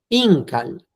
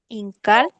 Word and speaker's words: incal: Y las últimas, Incal. incal. Pronuncia fuerte en el in, querida Tere.